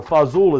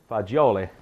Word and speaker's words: fagioli: the reality is that the fazool is a corruption you know when I say corruption meaning it's a it morphed into a lesser formal pronunciation over the decade the fazil was predominantly a American idiom you know the correct word attain is fagioli pasta e fagioli so that means pasta